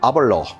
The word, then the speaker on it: Aberlour: 팔리는 식물몰트 스카치 위스키야이 이름은 우리식으로 읽으면 아벨라워 근데 현지에서는 아발로 이런 발음이더라 뜻이 수다스러운 개울의 입구야